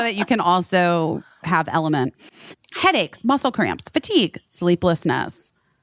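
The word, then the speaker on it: LMNT: that's we love element it's l m NT but you pronounce it element element um it's a very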